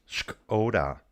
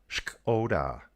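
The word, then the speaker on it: Škoda: You still pronounce the K. Shkoda. Shkoda.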